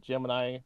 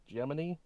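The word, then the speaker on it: Gemini: NASA's G they told that's not how you're supposed to pronounce it I call it gem apparently NASA calls it geminy or geminy which is wrong anyway crude Space Program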